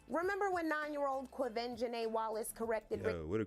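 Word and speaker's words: Quvenzhané: Quiven Janae Wallace.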